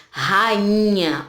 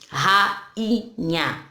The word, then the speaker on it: rainha: Percebam, ó, quando nós pronunciamos, ela já fica isolada, o I já fica isolado, ó. Rainha, rainha, ok?